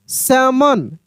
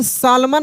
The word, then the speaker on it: salmon: जैसे यहाँ पे अगर लिखा रहे SALMON, इसको हम पढ़ेंगे सैमन। यहाँ पे सालमन नहीं पढ़ेंगे, सैमन पढ़ेंगे, सैमन, सैमन पढ़ देंगे। यानी यहाँ पर भी एल साइलेंट रहेगा, क्योंकि नियम है एल के बाद एम होगा तो एल साइलेंट होगा।